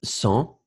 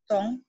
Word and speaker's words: sans: Alors, le S final, you don't pronounce the final S in that case. Sans. Sans.